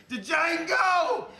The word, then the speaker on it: Django: DJANGO! You fat son of a bitch! The D is silent here, baby.